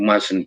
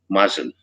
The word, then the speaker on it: mustn't: You mustn't play with matches. Mustn't. Not the first T is not pronounced.